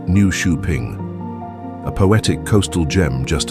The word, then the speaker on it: Nyköping: It's Newing, pronounced new shuing, a poetic coastal gem